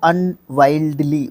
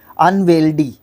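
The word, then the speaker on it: unwieldy: नॉट be handled easily, उसको अनवाइल्डली बोलेंगे। अनवाइल्डली, sorry अनवेल्डी, अनवेल्डी। वाइडली तो WIDELY हो जाएगा, वाइडली है ना, लेकिन ये गलत है, ये बोल दिया था मैंने, लेकिन यहाँ पे है वेल्ड। देखो यहाँ पे कोशिश करो, WIELD, ये वाला कंफ्यूजिंग जो है पार्ट है इसका, वेल्ड, अनवेल्डली। सो फिर से गलती बोल रहा हूँ मैं, अनवेल्डी, अनवेल्डी।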